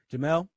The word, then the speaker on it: Jemele: I don't want to mispronounce her name. Jemele Hill.